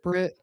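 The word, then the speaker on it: Britt Lower: I always say her name wrong. What is it? Britt.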